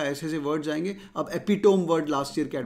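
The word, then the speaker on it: epitome: अब एपिटोम word last year cat में था, एपिटमी बोलते हैं इसको, एपिटोम मतलब highest point, she इज the highest, she इज द एपिटोमी of beauty, एपिटोम भी बोलते हैं, एपिटमी इज the right pronunciation.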